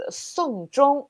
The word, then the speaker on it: 送钟: In Chinese, the phrase 送钟 is similar to 送终, actually exactly the same pronunciation, which means to send off someone at the end of their life.